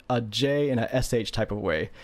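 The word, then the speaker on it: じ: Imagine pronouncing a j in a sh type of way.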